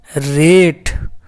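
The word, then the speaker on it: rate: तो लास्ट में ई का कोई साउंड नहीं है, तो रा का आर का रा हुआ, ए का ए हुआ, टी का आधा टा हुआ। तो टोटल मिलके क्या बन गया, रेट।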